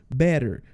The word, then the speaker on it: better: é na pronúncia do better lembra quando o nosso som de t tá entre duas vogais a gente faz esse som de R o r rolado de Pedro né então fica assim ó ol ess